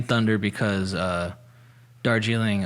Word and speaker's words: Darjeeling: name thunder because uh darjeeling uh or like you know the more like i think the less british pronunciation dorje lang means land of thunder